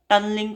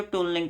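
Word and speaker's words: tunneling: क्या कहा जाता है क्वांटम मैकेनिकल टनलिंग कह सकते हो ट्यूलिंग कह सकते हो ठीक है जैसे आपको ठीक लगे ठीक है स्पेलिंग बोल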